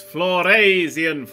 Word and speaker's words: Florazen: The final game for today is Florazen. That's how you pronounce that.